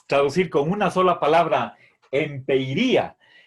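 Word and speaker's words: ἐμπειρία: Bien, entonces, si quisiéramos traducir con una sola palabra, empeiría. Recuerden aquí, este es el espíritu suave que no tiene efecto en la pronunciación.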